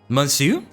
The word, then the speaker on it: Monsu: The A in Monsu is pronounced like an E. Monsu, that's French for you?